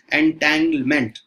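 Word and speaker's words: entanglement: दूसरा इंटैंगलमेंट है ना, यहाँ पे एन जो है वो साइलेंट है, थोड़ा ध्यान रखिएगा एंटैंगलमेंट, ओके तो सुपर पोजिशन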